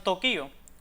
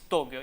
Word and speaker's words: Tokio: También impropiamente algunas personas decían Tokio cuando esa palabra no iba tilten la I. Aunque en el pasado se usó esta pronunciación, la extendida en la actualidad es Tokio y por tanto es la forma aconsejable.